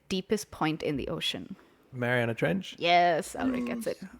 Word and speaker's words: Mariana: Mariana Trench. Yes, Alric gets it. I always forget how to pronounce it. I always say marinara. like the pasta sauce.